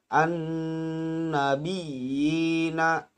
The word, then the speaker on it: an-nabiyina: Contoh, an-nabiyina, illiyina. Jadi an-nabiyina di situ terdapat ada dua huruf ya. Yang pertama berharokat tasdid, yang kedua sukun.